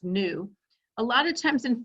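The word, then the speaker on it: ν: this Greek letter here represents frequency which is pronounced nu a lot of times in physics lately they've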